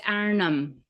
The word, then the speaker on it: Arnhem: It's Arnhem.